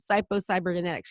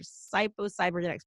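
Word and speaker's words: Psycho-Cybernetics: evidence if you read psycho cyber genetics psycho cybernetics by Dr Maxwell mulch psycho-cyber genetics I always say it wrong Dr Maxwell mulch it's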